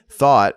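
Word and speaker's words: thot: it is an acronym thought which rhymes with not started started life as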